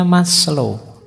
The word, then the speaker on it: Maslow: di masl Abraham masl ini bukan masl membacanya masl itu nama Jangan dibaca Mas itu yo Mas lo itu rendah Jadi Mas yang kelas rendah ndak mas lo itu lengkap jadi moralitas berhubungan dengan